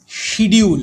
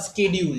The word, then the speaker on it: schedule: আচ্ছা, তাহলে এবার আমরা চলে আসছি শিডিউল বা স্কেডিউল, যে যেরকমভাবে বলবি, যেরকমভাবে উচ্চারণ করবি সেরকম।